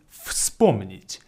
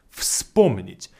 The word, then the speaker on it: вспомнить: But the very first letter V is pronounced as F, like an F, is вспомнить, вспомнить.